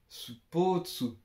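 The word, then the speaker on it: スポーツ: Ça se dit sport mais à la japonaise quoi.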